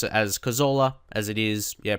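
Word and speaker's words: Cazorla: And I think I will just pronounce his name how you would in English right now. I know how previously I was saying his name was how you pronounce it uh in Spain as that's where he was actually born.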